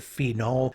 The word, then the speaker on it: phenol: So when I teach this, I often times try to really over pronounce that name. So I'll say phenol and phenyl, trying to make sure that I'm distinguishing between those two things as much as possible.